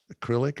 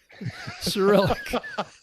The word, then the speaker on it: Cyrillic: It's not in what is it, acrylic or something, or not acrylic? It's acrylic, Cyrillic. You were close.